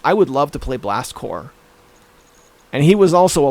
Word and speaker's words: Blast Corps: had a game called Blast Corps. Blast Corps, but it was spelled like Marine Corps, like with a P, Blast Corp.